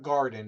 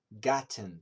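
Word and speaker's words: Wintergatan: You really have to check out Wintergarten, and it's winter. It's not garden. It's Gatten instead of garden.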